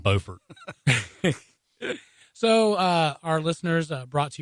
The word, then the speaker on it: Beaufort: same but they're not they're spelled the same like Beaufort Beaufort so our listeners brought